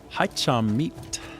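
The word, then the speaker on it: hai trăm mét: Vietnam, you would say hi cham meet. Hi chamat. Hi cham. Hi means two. Chum means 100. Meet is how you say meters.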